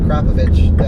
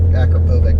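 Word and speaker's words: Akrapovič: the same as with the crop of itch pipe on it I think that's a German way to say Americans say Akrapovic but you know that's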